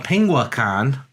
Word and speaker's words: Penguicon: penguicon thing but uh penguicon yeah I was yeah cuz someone will yell at you if you mispronounce it but spring believe it's penguicon they are May fourth